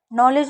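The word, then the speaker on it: knowledge: नॉलेज में आप देख रहे हैं के को नहीं पढ़ रहे हैं।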